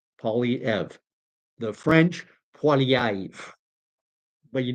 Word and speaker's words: Poilievre: Very simple. Poly, like polygraph, poly this, poly that, politics, Poilievre, like ever. Poilievre.